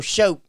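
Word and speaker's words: shoat: show pigs yeah no show show like a boat with the sh what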